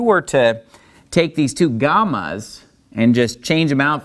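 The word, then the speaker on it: γάμμα: So like when we pronounce the name of the letter, gamma, it's pretty close to being a G. It's just a little bit softer of a G, almost like part way between a G and a Y.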